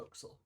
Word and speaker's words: forecastle: you see i forgot it's called the foxel oh oh there's another mispronunciation oh yeah no absolutely correct somebody's keeping telling right i mean it's spelled for castle it's one of the words you don't know how it's pronounced until you hear it like the word t-o-p-s-a-i-l you would pronounce top sail no topsoil it's like how kingsport is not kingsport all right i'm gonna